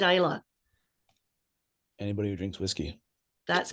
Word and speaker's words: Islay: not that s sadly oh yes who said Isa anybody who drinks whiskey that's correct two another